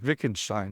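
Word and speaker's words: Wittgenstein: I think he's German, but his name is spelled with a W at the beginning, Vickenstein.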